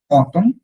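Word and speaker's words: automne: এতে, এতে, অতম, অতম, একটা ন কিন্তু থাকে লাস্টে, অতম, নেজাল, অতম, অতম, এক্স্যাক্টলি।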